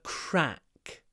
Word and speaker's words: crack: ceiling so is a crack crack CRA open your mouth really wide crack but your should be clipped before the unvoiced C crack so a crack